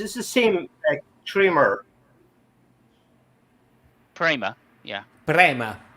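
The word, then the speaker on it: Prema: has a real the same trer primma yeah prma p r e m a say it like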